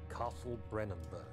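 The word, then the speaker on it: Brennenburg: in the midst of that that's how you pronounce brennenberg it's late in the evening Rider who has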